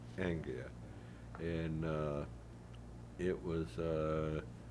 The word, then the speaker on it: Anglia: Is that how you pronounce it? Anglia. Anglia.